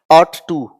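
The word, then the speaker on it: ought to: कोशिश करें ऑट टू, इसकी प्रोनाउंसिएशन का ध्यान रखें, इसे हम कहते हैं ऑट टू, और एक तरफ हम लोगों ने लिखा मस्ट।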